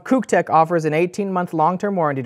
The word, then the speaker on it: CUKTECH: you about our sponsor ctech apparently it's pronounced c tech C Tech offers Quality